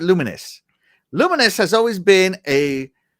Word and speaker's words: Lumines: Sorry, it says you pronounce it Luminous.